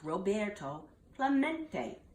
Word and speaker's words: Roberto Clemente: at bat he heard the announcer stumbled through a Spanish named rob a row see tote Clermont it echoed in the near empty stands Roberto Clemente was his name and this is pronounced Roberto Clemente as if to introduce